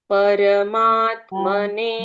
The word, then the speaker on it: परमात्मने: यहाँ परमात्मने मने प और र का उच्चारण हम पूर्ण करेंगे।